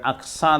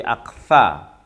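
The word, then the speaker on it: أكثرهم: Kemudian bal aktsaruhum, bukan aksa tapi aktsa, karena itu adalah huruf tha. Bukan sya ya. Bal aktsaruhum la yu'minun.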